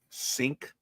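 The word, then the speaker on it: Cink: C I N K C I N K sink minus 10 and 62.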